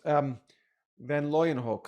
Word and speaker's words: van Leeuwenhoek: And it's Van Leeuwenhoek, I think is how you say his name, the person who developed the microscope, was reporting to the Royal Society, and he first discovered sperm.